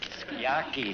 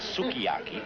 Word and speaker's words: sukiyaki: Skiaki, Henry. The U is silent. Not sukiyaki, skiaki.